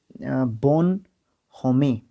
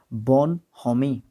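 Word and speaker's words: bonhomie: अब यहाँ पे एक वर्ड आया है, इसकी प्रोनाउंसिएशन का थोड़ा सा ध्यान देना ज़रूरी है, इम्पोर्टेंट है, ठीक है। बोमिल, ठीक है, कहाँ पे गया हमारा बोन होमी, ये बोमिल क्या पढ़ दिया था मैंने, बोन होमी, बोन होमी, बोन BON,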